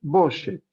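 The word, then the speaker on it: בושת: Hablé al principio de la clase acerca de la timidez y le vamos a poner su nombre en hebreo para que todo el mundo sepa cómo se dice, Boshet.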